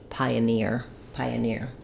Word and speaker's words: pioneer: We start with the I syllable. It's a clear vowel, secondary stress. The letter O says and then our main stress is on the near. Just like in engineer, pioneer.